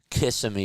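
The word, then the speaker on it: Kissimmee: Kiss him. pronunciation casimi kissing me. Oh, kissing me.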